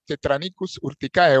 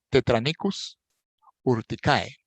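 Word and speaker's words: Tetranychus urticae: La araña roja, Tetranicus urticae o Tetranichus urticae, según usted lo quiera pronunciar, normalmente la CH en los nombres técnicos se pronuncia como K. Entonces, Tetranicus urticae.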